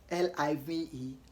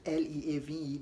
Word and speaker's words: live: Some of you obviously pronounce L-I-V-E and L-E-A-V-E the same way. You pronounce both as leave, but it's wrong to pronounce both as leave. L-I-V-E is pronounced as live, and not leave, as in L-E-A-V-E.